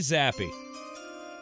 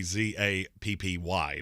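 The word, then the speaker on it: Zappe: for the Colts, Bailey Zappi, quarterback out of Western Kentucky. I'm still going to maintain he says his name wrong. If your name is Bailey Zappi, it should be Zappy, not E, because your name is Bailey Zapp.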